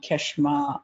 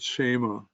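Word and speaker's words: Kshema: And he goes, I think, through the different one, Keshma, Adna, Right. Upana. It turns out the K is silent, so it's called Shema.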